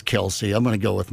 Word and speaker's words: Kelce: Pronounce it Kels. That's Swift actually how it's supposed to be. Is it really supposed to be Kels? It is. Yeah, when Mom says Kelsey, I'm going to go with Mom on that.